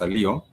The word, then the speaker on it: leo: Spelled the way you would pronounce a Leo.